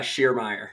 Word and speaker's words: Schiermeyer: your name out loud did I say it right nah Shear Meyer Shear Meyer I've heard every variation of it so it's all good I'll bet it's like 18 syllables so yeah it's German that makes sense that